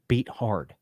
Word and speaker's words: Beathard: I know the correct pronunciation. It's just not badass. Beathard.